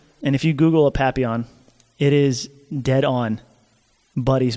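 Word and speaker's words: papillon: look at his face he is a papon it's spelled p a p i l l o n I think there might be an i i o n anyway papon it's like a French word uh I think it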